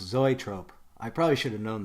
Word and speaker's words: zoetrope: So the word is actually pronounced zoetrope.